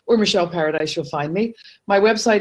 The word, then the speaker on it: Paradise: just one L and my last name paradise just the way it sounds PA ra di SC